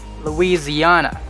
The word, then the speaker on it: Louisiana: louisiana so this one instead of s let's substitute the s with z louisiana louisiana the next one